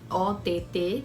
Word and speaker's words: Ott: E o Ott é Ott mesmo, esse é o meu sobrenome, é OTT. Não é abreviação, é esse mesmo inteiro. E se pronuncia Ott.